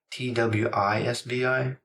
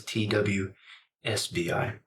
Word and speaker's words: TWSBI: And I know some people pronounce TWSBI TWISBI, but it's TWSBI.